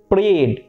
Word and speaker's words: parade: করাবো, তখন প্যারেডটা আসবে, পেট থেকে আওয়াজ আসবে, প্যারেডটা হয়ে যাবে তখন প্রেড।